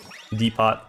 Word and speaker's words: Depot: Have you been pronouncing the T in Depot? The pot. Depot.